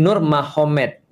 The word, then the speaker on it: Nurmagomedov: Jadi tulisnya Magomet tapi bacanya Mahomed kan gitu kan ya. Jadi Nur Magomedov itu jadi nur mahed.